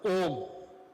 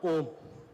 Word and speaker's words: Om: So we'll go to this bija word, Om. Okay, it consists of, because this is the source of the entire paradigm of Vedic scriptures. It is made up of 3 syllables. A, U, Ma.